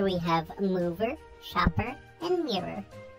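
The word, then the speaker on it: Mir'r: Here we have Mover, Shopper, and Mirror. That's just how you pronounce mirror. Yeah, but it's spelled different.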